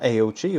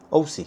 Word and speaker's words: AOOCCI: And I've actually found out as well that the pronunciation is OI. It's not AOC or AOC, it's OI or OC. OC, that's the one. OC. Found out yesterday it was OC.